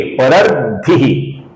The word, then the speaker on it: परर्धिः: और ये जो विसर्ग है इसके आगे परम स्पष्टः का प आया हुआ है, तो इस कारण से इसका हम हल्का सा फ, अपूर्ण फ ऐसा उच्चारण करेंगे।